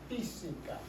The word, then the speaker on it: física: Física. Física. Okay? Has an accent on that first I.